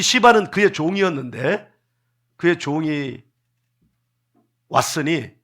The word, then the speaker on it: 시바: 그런데 한 사람, 발음이 참 조심스러워요. 시바. 혀를 굴리면 안 됩니다. 이 발음은 혀를 굴리면 안 돼요. 따라합니다. 시바. 입을 크게, 뒤에 라 하면 안 돼요. 시바.